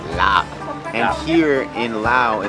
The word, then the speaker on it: larb: Supposedly, it's not pronounced larb, it's lap.